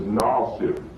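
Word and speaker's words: ناصر: His name is Nasir. His name was Nasir. That's a real classic pronunciation in speech.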